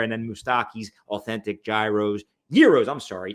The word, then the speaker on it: gyros: then mustaki authentic Gyros Euros I'm sorry it's not Gyros all these Euros I was calling him a gyro it's a silent G it's a Euro right there in Logan